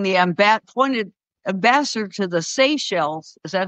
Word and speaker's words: Seychelles: And Gelb from the Clairol dude ended up being the appointed ambassador to the Seychelles.